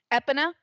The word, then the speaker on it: Epona: I was told I was completely fucking wrong, and it's Epona, not Epona.